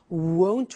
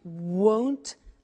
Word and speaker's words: won't: Won't, remember the difference between will not, won't, and want, won't, want. So be careful with that pronunciation.